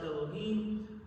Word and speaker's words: Elohim: our verse Elohim is spelled like the four-letter name but punctuated and pronounced Elohim this usually combines the